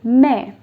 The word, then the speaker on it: mais: Now, if you remove accent tréma from this particular word, it is mais, right? Mais means but.